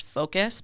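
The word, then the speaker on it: Focos: but one is called i believe it's pronounced focus but it's f-o-c-o-s that can actually give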